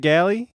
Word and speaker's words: Gallie: Is that how you say it, Gallie? Yes.